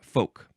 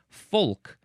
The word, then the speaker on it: folk: to call this word like to say this word folk with the L in there because it is spelled of course F O L K.